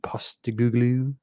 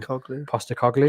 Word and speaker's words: Postecoglou: Brief word on Spurs appointing Ange Postecoglou. That was not how you pronounce his name. Postecoglou. Close. Postecoglou. I'm getting better. I'm terrible with big names. Postecoglou.